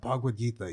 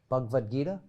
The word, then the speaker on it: Bhagavad Gita: he's always like, you should read the Bhagavad Gita. You should read that. And he always mispronounces it, but he never looks at me when he does Oh, it.